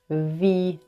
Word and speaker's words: Wie: So the W is v, v. Wie geht es dir?